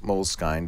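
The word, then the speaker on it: Moleskine: elastic molk style or M mol skine depending on how you like to pronounce that mol skin whatever different the spine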